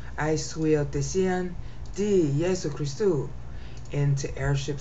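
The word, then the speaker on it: υἱοθεσίαν: Okay, huiotesian means both airship and sonship. And because of the extra syllables, I was able to bring that meaning out. See, airship, sonship. See, it's huiotesian, there's four syllables.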